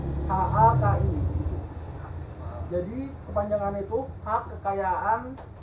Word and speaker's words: HKI: Jadi HKI itu tulisannya itu HKI, tapi H, K sama I. Jadi tapi kalau bacanya HAKI.